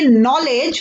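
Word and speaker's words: knowledge: से पहले आ रहा है इसे हम पढेंगे नालेज बिछेगी से पहले आ रहा है तो के इस साइलेंट इसे हम पढेंगे नाइट फिक्स के इस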